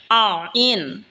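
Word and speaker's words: عين: আইন হলকের মধ্যখান হইতে উচ্চারণ হবে আইন।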